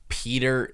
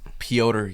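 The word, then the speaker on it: Petr: Four seed Brandon Royal verse five seed Peter Yan. It's It's pronounced Pota Yan.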